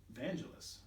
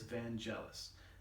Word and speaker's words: Vangelis: you all know of vangelis van geles vangulis i don't know how to pronounce it i'm not from the 70s um but i'm pretty sure it's van jealous anyway i mean everybody